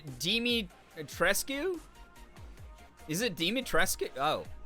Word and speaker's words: Dimitrescu: mommy you know well the first one you said that was correct dimitrescue dimitrescue I would not have guessed that at all yeah it honestly